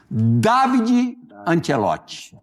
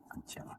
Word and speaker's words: Davide Ancelotti: Falar direitinho aqui a pronúncia do do nome dele. David Antielote. Antielote. David Antielote.